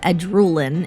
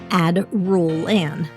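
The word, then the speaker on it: Adrullen: to their player base for mispronouncing the word Ad Rulen in my previous video. Apparently, it is pronounced Ad Rulen. Now, in my defense, I was simply using standard English linguistic rules that combine the letters D and R together, like in names, like Adrian or Adriatic.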